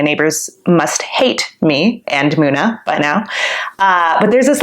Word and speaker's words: MUNA: Hey, this is Billboard, and you should know us, Muna. I was listening to this song by Muna earlier, who's a band I've become obsessed with this year.